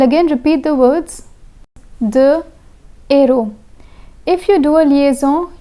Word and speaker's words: héros: The H in héros is an H aspiré, which means it acts as a consonant. In this case, the liaison must not be done.